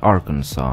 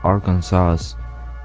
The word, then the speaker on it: Arkansas: about Arkansas America's Natural State and yes it's pronounced Arkansas not Aransas or Arkansas believe me there's actually a law that regulates